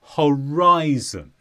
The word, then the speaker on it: horizon: Horizon and this is a noun the stress is on rye Horizon and the Horizon is